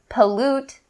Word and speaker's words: pollute: the first words pronunciation we're going to concentrate on that t sound that comes at the end so typically native speakers will make the stop t sound so rather than saying pollute pollute we'll say so as